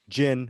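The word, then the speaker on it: Jinn: is silent or it could be jin which is d d j i n n the the gin okay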